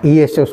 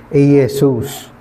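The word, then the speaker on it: Iesus: walang letter J the same sa latin wala rin ano eesus po yan. Letter I, letter E, letter S, letter U, letter S. Aesus.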